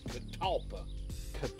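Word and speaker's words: catalpa: actually a c but everybody I call it Gava but it's actually katala Kat kampa c a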